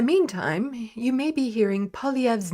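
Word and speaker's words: Poilievre: you may be hearing pov's name a lot or more now that he's conservative party leader best to get a handle on that French French pronunciation it's POV POV POV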